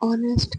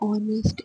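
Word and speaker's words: honest: और ऑनेस्ट, क्योंकि ओ की साउंड आ रही है यहाँ पे, मतलब ऑनेस्ट एच साइलेंट, ओ की साउंड है, ओ क्या है वॉवल, तो एन आएगा।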